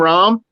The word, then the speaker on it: Jon Rahm: as you know i gave you how to pronounce his name rom but his name is john rom rodriguez i